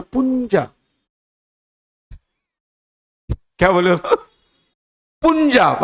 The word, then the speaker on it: पंजाब: पुंजाब, मतलब पुंजाब नहीं, पंजाब। यू is there ना, you have to know, you is silent.